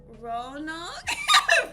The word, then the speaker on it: Roanoke: guest from Ro I can't pronounce it Roanoke Roanoke yeah I'm pronouncing that so I'm from Virginia please Maureen